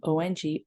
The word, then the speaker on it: Ong: And this one is two words, if you will, though you might hear it as 3 syllables. Ong, O-N-G, Ong So Hung, H-U-N-G, Ong So Hung.